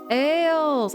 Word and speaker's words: Ales: Oh, it's just it rhymes with fails. Ales.